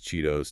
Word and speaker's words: Cheetos: All those T's between vowels because of the soft D flap. Doritos, Cheetos, Tostitos, and the sports drink Gatorade.